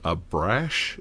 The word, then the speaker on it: Abrash: And Michael, I think his name Abrash is how you say it. I can never pronounce his name correctly.